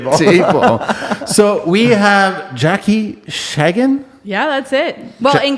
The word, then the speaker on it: Schagen: When you're there, you pronounce it Schagen. We like being worldly on this show, Right? so that's really good. But we'll stick with Schagen.